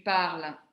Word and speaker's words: parles: Je parle, tu parles, il parle, nous parlons, vous parlez, il parle. La prononciation est identique pour le je, le tu, le il au singulier et le il au pluriel.